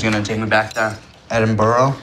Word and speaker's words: Edinburgh: Yeah, she said she was gonna take me back to Edinburgh. That is not how you pronounce that word. It is bruh. Edinburgh.